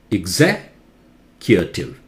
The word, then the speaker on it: executive: to say that correctly executive is not executed in in English it cannot go letter by letter and try to pronounce everything that is not the correct pronunciation English sounds may be very different from spelling it is a non